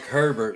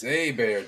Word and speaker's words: Hebert: Bobby Hebert, man, he's one of the best uh spelled like Herbert, like like uh Justin Herbert, but it's Hebert down here in New Orleans, and well, he's actually from the bayou.